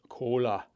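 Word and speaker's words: Kohler: engines, by the way, Martin would pronounce Coler this way. Cola.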